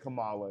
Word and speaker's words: Kamala: You said Kamala.